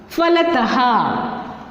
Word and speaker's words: फलतः: फलतः क्या बन गया? फलतः। तो समझ में आ गया ना बच्चों? आहा की मात्रा हमेशा शब्द के अंत में लग जाती है और उसका उच्चारण आहा इस तरह होता है।